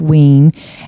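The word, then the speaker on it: Wein: wean it's spelled we i n but it's pronounced wean and the illustrator was Guy Davis right and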